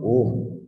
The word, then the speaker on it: Om: The 5 sacred syllables. Right? What is the meaning of Om?